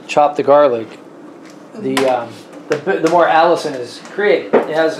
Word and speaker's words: allicin: is just some chemical in there it's called allicin no it's not that out it's spelled uh a-l-l-i-c-i-n if i if i remember correctly but anyway what i was reading about alice in is that um it's in garlic but it's